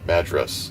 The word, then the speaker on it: Madras: on this little adventure in Madras or Madras. That's how you pronounce it.